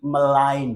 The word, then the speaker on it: malign: सो मैंने मम्मी से कहा मम्मी मुझे बदनाम मत करो, मलाइन होता है, जी बिकम साइलेंट, जी साइलेंट हो जाता है, so malign sound would be, pronunciation would be malign।